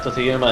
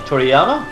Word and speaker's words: Toriyama: there are people who absolutely love it, like Totoyama and his. I mean, his name wrong. Toriyama, is it?